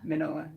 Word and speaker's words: Mignola: because it's spelled Mignola, but I think the G's like kind of silent. Gillian Dyer. No, like right here. Oh. Mignola. Mig- He's the creator of Hellboy. Magnola. Magnola. Yeah, Mr. Carroll said don't say the G.